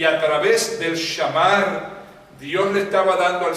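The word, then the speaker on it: שמר: Shamar es la palabra. Shamar, así mismo se escribe en castellano. S-H-A-M-A-R. Shamar.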